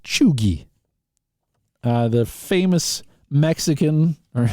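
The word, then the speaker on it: cheugy: that's spelled like c-h-e-u-g-y used to denote tragically unhip Millennial Trends uh it's pronounced chugi uh the famous Mexican or well it's not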